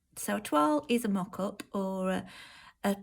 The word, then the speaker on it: toile: So a toile is a weird word because it's not really, well, it's a French word, first of all. So there's no English equivalent to the sound, the toile sound.